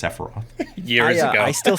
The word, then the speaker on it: Sephiroth: say his name uh i said uh safireth not the not the sephiroth oh no not the